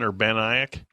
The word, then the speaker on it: Urbanic: Urbana. Nobody else from East made it. Interesting. How do you say that? Urbanic.